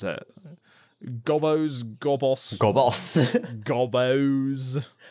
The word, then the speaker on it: Gobbos: That's how you pronounce it. Gobbos.